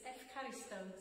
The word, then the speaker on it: ευχαριστώ: to say thank you in Greek, but it's ευχαριστώ, so don't think anyone's going to have a holiday in Greece very soon, but it's one for the future anyway.